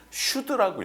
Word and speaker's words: SCHD: 근데 이거를 우리 보통 뭐라고 읽냐면 슈드라고 읽어요.